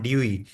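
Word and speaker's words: Dewey: इसको डेवी नहीं पढ़ना, that is absolutely wrong pronunciation. The correct pronunciation is John ड्यूई।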